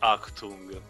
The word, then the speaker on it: Achtung: Also, Pedro, for the record, yeah, it's pronounced Achtung.